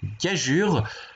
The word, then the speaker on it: gageure: Sinon aussi pour conclure que dans gageure, le groupe EUR se prononce UR, et c'est justement pour